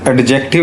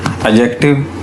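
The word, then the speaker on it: adjective: इसे बेटा एडजेक्टिव नहीं पढ़ना, एडजेक्टिव डी is silent my सन।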